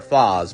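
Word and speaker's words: Faiz: And lastly, I think common rider zets was also inspired by common rider foss because fos as a writer is name is spelled two ways.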